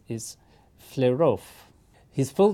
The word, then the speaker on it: Flerov: looks like E is in Russian, in his name, pronounced like yo, like the beginning of yogurt.